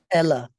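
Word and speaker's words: Éile: Um, uh, how Ayla, Ayla? How did they pronounce it? Ella.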